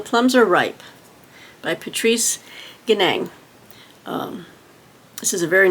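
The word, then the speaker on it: Nganang: um Patrice I'm gonna I think the N is silent I'm gonna say Patrice ganang okay and this is the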